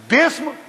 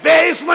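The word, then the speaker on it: بسم: लिखा तो जाता है खोलिए कुरान बेइम कहां है बिस्म है अगर इम होता तो बे अलिफ सीन मीम होता मगर इसमें बेइ स्म नहीं है बिस्म हैला बिस्मिल्लाह में अजीजो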